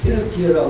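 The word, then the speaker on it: Türkiye: 다니고 올 때에 터키 지금 트 트르키어라 그래요. 트르키어 자기들 발음으로 한다 했어요. 옛날에 영어 영어 바른 식으로 터키라 했어. 그런데 자기들 말대로 온다고 고친다고 하더만은 트 트럭키로 바깥 자기 터키의 사람들의 어 언어 대로 왜 영어대로 우리가 터키라고 하냐 태라고 예 할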